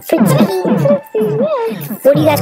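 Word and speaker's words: frytki: I thought it was like freaky. Fritki.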